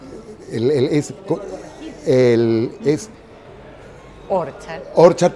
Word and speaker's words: Orchard: Orchard, pero con acento en la primera. Sí, leva, no en la segunda.